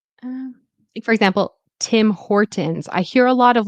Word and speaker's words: Tim Hortons: But anyways, Tim, it should be timort or Tim Hortons. Right. So, the it's like a glottle T.